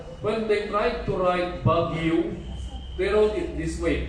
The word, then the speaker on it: Baguio: when they tried to write Baguio, they wrote it this way: B-A-G-U-I for gi, and then O for whoa.